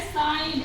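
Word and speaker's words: sign: डिजइन ठीक है वैसे ही अगला वड है साइन एस आई जीी एन साइन साइन ऐसे बोले य पर भी हमने जी को साइलेंट रखा है अब कुछ वड और है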